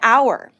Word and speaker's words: hour: Look at these examples and pay attention to the pronunciation. An hour, an honor, but a hotel, a house.